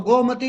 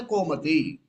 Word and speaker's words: Gomati: So Gomati, you say Komati.